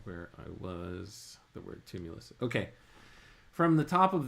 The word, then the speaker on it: tumulus: gigantic tumulus, Tumulus, or tumulus. Help me out with that word, robot lady. You've got it almost right. The word is pronounced tumulus, and it refers to